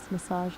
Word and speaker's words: massage: Massage. The geek at the end sounds like a J.